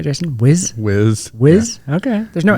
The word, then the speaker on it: Wiz: Wiz?